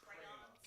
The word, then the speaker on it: crayons: What did I say? Say it wrong. Crayon. How do you say it? Crayons. Crayons. I got to put a little Cajun flare to it. Down. Crayon. Down. Now my nose down here. Crayons. What' I say? Crown. I said it wrong.